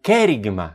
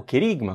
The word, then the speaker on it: querigma: Jesus fazendo o o kerigma Né o Querigma como nós costumamos pronunciar esse anúncio do Evangelho